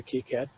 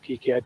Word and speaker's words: KiCad: something i call it kai cad or keycad it's supposed to be called kicad because that's the french pronunciation right i started calling